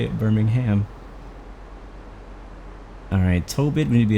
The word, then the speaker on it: Birmingham: it's so quiet right when saying Birmingham it's a silent h oh that's the thinkers in the u.s. we have a Birmingham here too that's how we say it Birmingham alright Tobit maybe a